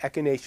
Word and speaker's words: echinacea: plant and the plant is gang that's right echinacea variously plants differently but echinacea is generally its correct pronunciation a key means shop or Hedgehog like